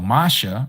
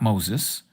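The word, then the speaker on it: משה: So, Masha, real name, Masha, not Moses. Moses, okay? Just like Jesus. They also Greek-nized Mosh Moses' name by calling him Moses. It's Masha.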